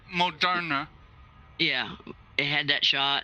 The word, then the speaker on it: Moderna: Well, they had the I know I'm saying the name wrong. Modina. Whatever. Moderna.